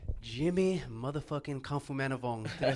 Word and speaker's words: Khamphomanivong: Jimmy motherfucking Khamphomanivong.